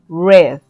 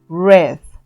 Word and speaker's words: read: En pasado se escribe igual, pero se pronuncia diferente. Escuchen, read, read. En participio pasado pasa lo mismo. Su pronunciación es read. Así ustedes lo vean escrito igual, la pronunciación es diferente.